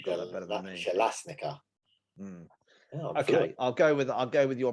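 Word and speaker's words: Bjelašnica: Jelasnica. Yeah. Okay. Yeah. You maybe get that. You got that better than me. Jelasnica.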